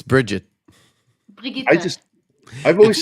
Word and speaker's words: Brigitte: Why do you say her name like she's French? Brigitte, She's not. It's Bridget.